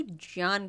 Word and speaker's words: ज्ञान: ज्ञान योग उसे कहेंगे अगर संस्कृत में हम करेक्टली प्रोनाउंस करे तो ज्ञान कहते हैं उसे ज्ञान योग के